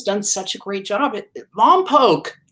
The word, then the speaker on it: Lompoc: i'm so excited about is people learning to pronounce the word lompoc oh yes everyone has done such a great job mom poke it's so simple anyway i just wanted to